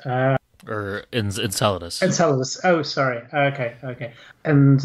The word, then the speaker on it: Enceladus: the geezers gazes I'm never sure how to pronounce that word uh on on enchiladas uh or in Enceladus oh sorry okay okay and uh Sam uh